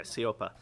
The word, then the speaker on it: Siopa: Am I pronouncing that last name right? Okay, Siopa.